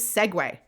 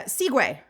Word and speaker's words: segue: For me, it was segue. Segue. because I used to pronounce it uh seiguay but but like in my head I'm